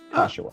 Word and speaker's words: Kashiwa: Yeah, it ends up sounding like Joshua with a K. Kashiwa.